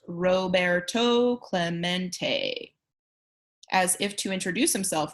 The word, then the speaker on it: Roberto Clemente: robera Clemente was his name and this is pronounced Roberto Clemente as if to introduce himself Roberto smacked the